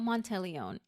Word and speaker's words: Monteleone: be talking about hotel montelone and before I start I did look up the pronunciation it's an Italian word correct pronunciation is montelone